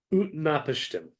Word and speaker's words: Utnapishtim: Because Noah's got the character that resembles Noah in this has a super convoluted name that I need to pronounce by reading it. It's Utnapishtim.